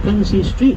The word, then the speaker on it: Princes Street: The Princes Street, not Princess Street as it's sometimes mispronounced, but Princes, the plural of Prince, named after the two sons of George III, Princes George and Frederick.